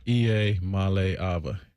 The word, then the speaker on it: Iamaleava: I'm Nico Iamaleava, and the correct way to pronounce my last name is Iamaleava. Iamaleava.